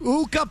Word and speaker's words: Uka: Uka Pekka and said he saved him, but ultimately, because his name is Uka, rhymes with? Puka.